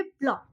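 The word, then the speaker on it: block: Same इधर ब्लॉक, उसको हम ब्लॉक ब्लॉक ऐसे नहीं बोलेंगे, हम बोलेंगे ब्लॉक। ओके, नेक्स्ट देखिए जैसे एस एंड बिफोर के एंड क्यू। देखिए scene, C is silent after S, ठीक है, आफ्टर एस, एस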